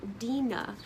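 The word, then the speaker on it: Dinah: But I believe her name was probably pronounced dena because the root of her name from the word dean which is what encapsulates religion, faith and a way of life.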